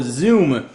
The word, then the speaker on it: Xoom: Of course, it is the Motorola Xoom, spelled with an X. Don't confuse that with a Z the way you'd expect to spell it.